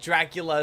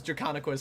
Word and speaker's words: Draconequus: much of him saying Dracula is how you pronounce Draconequus, because he couldn't get like a Dracon Esquus. Dracon Chex Mix. Dracon Queso. Yeah, it's Drakon, dragon, equus, equine, dragon horse.